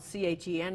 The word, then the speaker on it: Chen: I can barely say gefilte fish, but you know, it's spelled C-H-E-N. It's pronounced Chen.